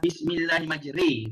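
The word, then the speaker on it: بسم الله الرحمن الرحيم: Sebenarnya bacaan yang betul ialah bismillahirrahmanirrahim. Ri, do re mi kan. Bismillahirrahmanirrahim bukan re.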